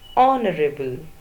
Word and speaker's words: honorable: are a ble guest Honorable H s silent so the first sound is of and that is a vowel sound next edge o n